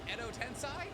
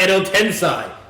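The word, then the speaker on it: 穢土転生: Did you guess Edo Tensei? In Naruto, Why does he say it like that? It's not Edo Tensei. Edo Tensei. Say fucking Edo Tensei.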